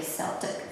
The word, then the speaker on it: Celtic: I have an Irishman telling me it's pronounced Celtic.